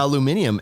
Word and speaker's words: aluminium: Canadians say aluminum and composite. It's actually Australians say it's actually spelt different. Aluminium and composite.